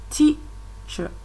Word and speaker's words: teacher: In example number 2, teacher. Teacher. That is, you can see the T there is louder than the ch. That is where the force is on the first syllable.